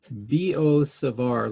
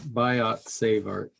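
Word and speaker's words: Biot–Savart: vo savar law um they're both french and so you don't say the ts on there and in french they probably pronounce it some way fancier than what i just said but that'll be good enough for us today it is not biot save art so just remember that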